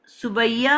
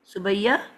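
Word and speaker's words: Subiya: आ, सुबैया, आपका आप ऐसे प्रोनाउंस करते हो अपने नाम को? सुबैया आके फिर गायब हो जाते हैं।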